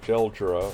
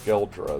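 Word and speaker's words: Geldra: Um Leila was captured by an terrorist organization called Gelra, or Gelra is actually how you say it.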